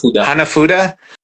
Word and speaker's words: hanafuda: How do you pronounce it? Hufan? Hanafuda.